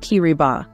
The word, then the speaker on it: Kiribati: T is pronounced as C therefore kirbas is pronounced kiriba if you are an avid Enthusiast of the